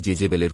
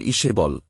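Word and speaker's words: Jezebel: তবে আহাব নিজে যতটা না তার খারাবির জন্য প্রসিদ্ধ তার চেয়েও বেশি পরিচিত তার রানী জেবেলের কুকীর্তির জন্য। জেবেলের আসল উচ্চারণ ইসেবল কিন্তু ইংরেজিতে প্রচলিত জেবেল নামটি বেশি খ্যাত।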